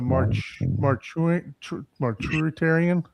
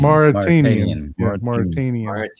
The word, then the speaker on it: Mauritanian: So Don, you're gonna go ahead and pronounce that one for us? It's the Marturitarian. I thought it was Mauritanian. Mauritanian. Yeah. Maritime. I thought you just said the Martian. Mauritanian. Mauritanian.